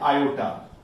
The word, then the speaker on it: iota: This square root of -1 is nothing but it is a iota. Don't say आई एक अच्छा sound नहीं करता। जब कॉम्प्लेक्स नंबर की बात करी गई तो आप इसे आयोटा ही प्रोनाउंस करोगे बच्चों, राइट।